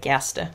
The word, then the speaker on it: Gerste: So the pattern I ended up making was, they're called Gerst, I guess you'd maybe pronounce it in English. My mum pointed out to me that that's a German word, whether that is actually what the designer meant. I think she is German, so it could be. But I'll say Gerste, because that's, I think, how you're meant to pronounce it.